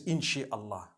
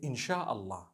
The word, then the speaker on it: insha'Allah: Inshi means to create. No one says inshi Allah. They say insha'Allah.